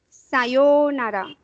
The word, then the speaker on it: Sayonara: Same thing you have to pronounce here. Double O is there. Sayonara.